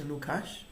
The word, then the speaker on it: Lukács: But the point that some people make, and these are two people, one is Lukács, as Danny taught me to the pronunciation.